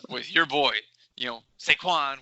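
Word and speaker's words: Saquon: your boy you know sequan which rhymes with stanwan and uh you know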